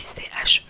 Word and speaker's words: che: Le petit bah, y a la même chose en italien c'est que mais ça s'écrit CHE du coup. Et bah, ça se prononce comme ça.